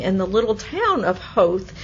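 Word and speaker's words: Howth: the little town of hope it's h o w th but it rhymes with grouse so as an American I want to say health but it's hope it's wonderful and I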